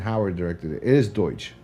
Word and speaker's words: Deutch: It is Deutsch. It's Deutsch.